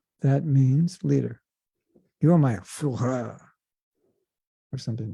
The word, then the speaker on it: Führer: Führer. That means leader. You're my Führer.